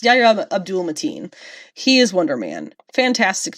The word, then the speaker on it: Yahya Abdul-Mateen: Yeah, Yahya Abdul-Mateen. I didn't want to say it wrong. I wasn't sure if it was Mateen Abdul. It's Yahya Abdul-Mateen.